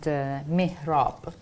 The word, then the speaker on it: mihrab: My pronunciation is Persian, by the way. They might call it mihrab. Oh, okay. But okay. I say mihrab.